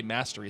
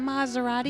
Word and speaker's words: Maserati: of owls mischief managed why is it an s and not a z is it maserati no it's s that's how you say it yes it's italian maserati mozzarella z